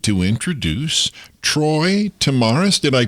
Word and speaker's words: Tomaras: Uh I put out a call and I said I'd really like to introduce Troy Tamaris. Did I pronounce that correctly?